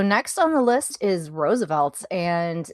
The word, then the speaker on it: RSVLTS: So, next on the list is Roosevelt and it's spelled RSVLTS for our newer listeners.